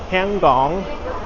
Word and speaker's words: Hong Kong: There's a lot of Hong Kong names and places that look like they should be pronounced that way, but it's not really like uh Hong Kong is Hangong and Mangkok is another area is Mongok and Wanchai is Wai.